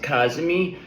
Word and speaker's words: Cazimi: We're going to be riding in this wave of energy of the Jupiter Kazmi. Kazmi. Yes, that's what it's that's how it's pronounced. Kazmi.